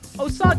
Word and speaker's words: Osage: no i got that oh sage is a reasonable reading of it yes but also